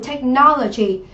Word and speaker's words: technology: Ở đáp án B chúng ta có từ technology. Technology thì đây là danh từ trọng âm rơi âm tiết thứ mấy? Thứ 2, đúng không?